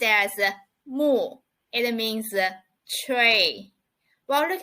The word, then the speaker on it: 木: It pronounced as mu.